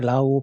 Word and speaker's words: RAW: ora 더 벌려 줘 이것을 발음을 할 때 로 우로 바람 하신 분도 있고 라 우도 발음 아시는 분도 있고 이렇게 라오 발음 하시는 분도 있습니다 이것은 전부 다 같은 말이라도 같은 말이라고 봐도 되겠습니다 2 저희들이 사진을 사용을